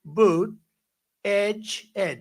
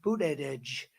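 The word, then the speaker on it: Buttigieg: And Boot Edge, years ago I said, how do you pronounce that damn name? And they said, Boot Edge, the word edge. That's the way it's pronounced, Boot Edge.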